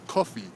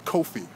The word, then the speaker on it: Kofi: name was he said his name was cofi uh actually his name was Kofi being from Ghana but they didn't know that so they spelled his name pH phonetically how it sounded c u FF e so when he was